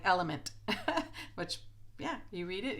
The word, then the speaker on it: LMNT: that I had the LMNT. And a subscriber here I appreciated her. She corrected me and said it's pronounced like element, which, yeah, you read it, yeah.